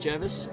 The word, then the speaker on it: Jervis Bay: it in writing in his letters that it's pronounced jervis that needs to go viral busted as